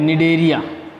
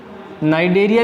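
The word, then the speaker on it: Cnidaria: इस संघ का एक नाम और भी है, निडेरिया। नाइडेरिया भी लिखा मिलेगा आपको कई जगह, लेकिन निडेरिया है। इसमें जो सी है ये साइलेंट है, याद रखना।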